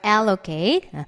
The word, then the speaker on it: allocate: 앞에 강세 있죠? allocate. 아주 힘든 고된이란 형용사가 strenuous, difficult랑 같은 개념이죠.